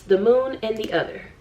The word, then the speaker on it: The Moon and the Other: talk about this book i mispronounce it and so i just want to let you know that although i mispronounced it from this point forward i am well aware that there is no s on this word it's the moon and the other i know i know